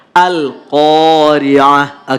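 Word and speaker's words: القارعة: Ada alif, sebelumnya ada huruf qaf yang berharokat fathah, maka qaf dibaca panjang 2 harokat. Al-Qari'ah. Tidak boleh Al-Qari'ah. Al-Qari'ah, nggak boleh. Tapi harus 2 ketukan. Al-Qari'ah.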